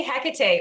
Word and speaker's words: Hecate: than it is, but I have to say Hecate or Hecate, depending on how you want to pronounce it.